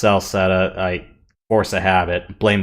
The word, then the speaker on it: Celceta: Actually, most of the solo installments are at most 10, but the party system games, 7, Memories of Calcutta. I know it's actually pronounced Celceta.